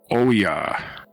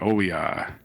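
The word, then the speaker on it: Oia: Northern santerini mainly in Oya I think it's how it's pronounced o i a Oya no consonants the swarm's location suggest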